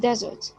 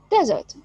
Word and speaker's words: desert: The first one here, it's a verb, so the stress will be on the second syllable, desert, desert. And here it's a noun, so the stress will be on the first syllable.